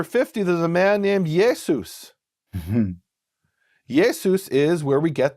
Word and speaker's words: Jesus: Because Greek names tended to end with a S, like Joseph becomes Josephus, and Yeshua becomes Jesus.